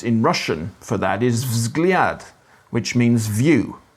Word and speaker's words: взгляд: Russian for that is vzgliad, which means view. V, Z, G, L, and J are like V, Z, G, L, and Y all together before you even get a shot at a vowel.